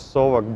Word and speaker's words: Saucony: Tell us about Saucony brand in general. At first, What is the Saucony? It`s correctly to pronounce on American SAUcony.